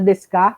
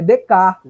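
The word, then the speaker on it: Descartes: famoso rei d'écart tá cuidado descarte os apps para pronunciar correto não é desse carro está gente é de carro tá é de tarde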